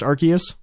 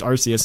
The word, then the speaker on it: Arceus: it like I think in the Arceus movie it's pronounced Arceus correct and with the hard K yeah and then if